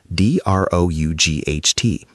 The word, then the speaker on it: drought: Listeners, listen to the pronunciation. D R O U G H T.